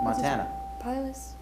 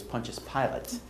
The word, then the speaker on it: Pontius Pilate: for washing his hands after a particularly nasty montana pilots i don't know what's happening i don't know how to say it sorry no sound terrible it is pontius pilate you need the correct i need the pronunciation